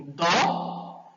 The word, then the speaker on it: dó: Sentiu a diferença aí do do para o dó? Qual é o que eu pronunciei com mais força, com mais vibração? Foi a palavra do ou foi a palavra dó? Foi a palavra dó. Então, ela é uma sílaba tônica, dó.